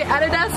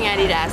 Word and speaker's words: Adidas: And actually, we call it Adidas, but in America, you guys call it Adidas. Yeah, but Adidas is actually the correct way to say it, I feel like.